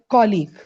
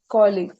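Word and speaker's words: colleague: कोलीग Ayesha is माय कोलीग कोलीग right आप ये देखना कलीग ये क के यू एल आई जी ये कलीग बनता है तो कलीग इज नॉट the right word it इज कोलीग Ayesha is माय कोलीग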